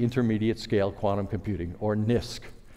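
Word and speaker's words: NISQ: scale quantum computing or NIST computing which I think happily rhymes with risk and the bottom line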